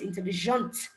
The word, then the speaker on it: intelligent: intell for the boys intelligent it's not the T I'm pronouncing okay the actual pronunciation